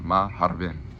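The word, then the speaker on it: مرحبا: And this is pronounced maharbin.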